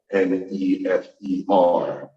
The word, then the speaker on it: Nefer: closer to English, then we would write it N-E-F-E-R. But even if you just pronounce it, even if you just see the N-F-R, you would read the same way without the vowels.